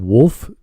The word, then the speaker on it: Wulff: out anyway this is by as i said wolf i don't pronounce that w-w-u-l-f-f-den just wolf wolf okay all right i thought it was